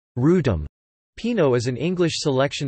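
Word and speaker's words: Wrotham: to be superseded by the Australian work, the Rotham, pronounced Rootum.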